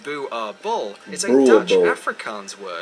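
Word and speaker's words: Boerboel: are illegal in Norway boule ball pronounced boo our ball is enlarged in Afrikaans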